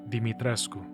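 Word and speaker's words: Dimitrescu: Finally, back at the lever that opens the gate to Castle Deitrescu, Deitres, Dmitres, Dimitresco. I looked it up. Apparently, you're supposed to pronounce it Dimitresco.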